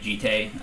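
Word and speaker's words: Jitte: will complicate things, but I do know how the Jitty is. It's like Jite. I know how it's pronounced. I'm not going to fucking. It takes too long to pronounce it that way. I just say Jit. Jit's even worse than Jitty. At least I'm acknowledging there's 2 syllables.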